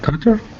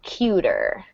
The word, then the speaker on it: cuter: Uh, uh, James Dean was uh, uh, cutter than Marlon Brando. Yeah. And this gets the long U. Cuter.